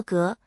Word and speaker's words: 鬲: 值得一提的是，砺也可读作革，古代曾作为国名使用。